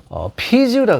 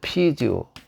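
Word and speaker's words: 啤酒: 일본이나 우리나라는 맥주라고 하는데, 맥주라고 하지 않고 피주라고 그래요. 피주. 이 맥주를 만들기 위해서 원래 이 비자죠. 이 글자를 만들어냈어요. 중국 발음을 하면 이렇게 피지오가 되는데, 만들어냈어요.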